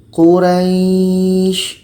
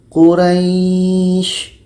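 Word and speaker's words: قريش: Quraysh. Kita memanjangkannya di dekat ra, lalu shin menjadi sukun. Quraysh.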